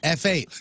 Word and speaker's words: F8: F8, pronounced Fate.